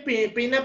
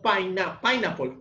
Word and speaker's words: pineapple: lo único de pronto no se dice pinle sino pineapple con acento en la primera s pero del resto